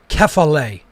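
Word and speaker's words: κεφαλή: the greek characters okay so you pronounce that kefale in greek and that means head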